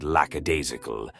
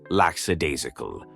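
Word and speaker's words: lackadaisical: English football pundits love the word lacadasical, but more often than not they pronounce it laxadasical. I assume from incorrectly assuming that lax is just short for lacadasical.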